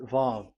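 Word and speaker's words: וו: So it's V as in Vogue. So it's really V. How to read Vogue? So the word, the shape Vav is really pronounced V, like Vogue. That is it, pronunciation. So here in this side, it's pronunciation. This is pronunciation. So according to the old Hebrew word today, those who, the owner of the words, I mean, so it's a V. So don't change it into W.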